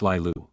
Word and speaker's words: Laya: Ever since I was a teenager, I've loved the name Laya, pronounced Lilu.